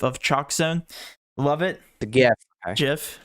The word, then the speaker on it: GIF: just a gif of chokzone love it again jiff it's jiff the way you pronounce things is just oh man how does